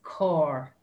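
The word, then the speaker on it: carr: glam and the word for car is very similar it's core core and one more little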